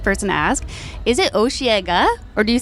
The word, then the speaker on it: Osheaga: Yeah, so no, it's Osheaga.